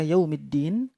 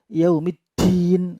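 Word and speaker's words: يَوْمِ ٱلدِّينِ: ayat yang ke-4 Malikiyaumiddin ketika membaca yaumiddin maka Bibirmu cucu ia kemudian di makhraj dan tidak sampai keluar anginnya Jadi ia Umi tdyn al-jarh tidak boleh dibaca ya Umi Din angin keluar tidak boleh Nah linky yaumiddin untuk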